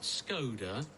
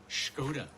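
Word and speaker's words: Škoda: where do we work skoda not skoda is pronounced skoda so we've been saying it wrong all this time yes we have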